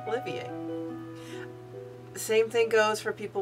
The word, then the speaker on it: Olivier: in Victor i e r that's Olivier not Oliver not Olivier but Olivier and despite the fact that it means the